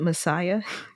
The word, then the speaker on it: MSIA: And then the initiations are MSIA, and they pronounce it Messiah.